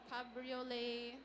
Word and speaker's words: cabriolet: Cabriolet, spelled C A B R I O L E T.